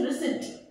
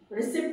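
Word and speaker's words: receipt: सीई आई प टी रिस रिसिप्ट नहीं होता है प जो वर्ड है इसमें साइलेंट होता है प इसमें नहीं आएगा या पी इसमें नहीं आएगा इट्स रेसट you take the writ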